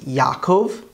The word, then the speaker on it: Yaakov: it comes to names we have jacob which is yaakov his son judah is